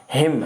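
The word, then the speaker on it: hymn: आगे आपका हिम है, हिम, ठीक है ना। हिम है आपका, एन साइलेंट रहता है, मतलब होता है भजन,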